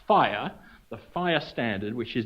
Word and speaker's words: FHIR: fast healthcare interoperability resources fhir which pronounced is pronounced fire the fire standard which is developed and maintained